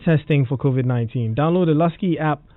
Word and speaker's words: Luscii: Download the Lusky app right now and connect to this service. Lusky is spelled Luscii.